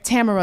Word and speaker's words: Tamara: say oh yeah tam tamara is a very common pronunciation but it's tamara and then I'll usually give somebody something to stick like it's the Russian pronunciation of the word of the name and that's Tamara.